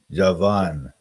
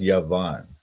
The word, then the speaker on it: Javan: how you pronounce that Javan oh wait yavan yavan see in in Hebrew is pronounced yavan see this this like this little symbol there that you see this okay this symbol here is like V VAV it's like the V letter and it just means